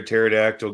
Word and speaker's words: pterodactyl: laughs why can't you hear a pterodactyl going to the bathroom the p is silent yeah all right I